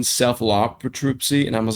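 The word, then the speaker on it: Cephalotripsy: I would say it's Celipatripsy, and someone was like, "You mean Cephalopatripsy?"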